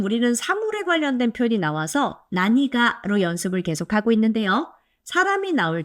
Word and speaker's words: 何が: 자, 근데 이 낭이란 표현은 뒤에 조사 가를 만나면 난가 발음이 불편해서 나니가 라고 발음하셔야 돼요.